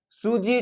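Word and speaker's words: Tsuji: सूजी ट्रोस्ट रिएक्शन है, जिसमें टी साइलेंट है।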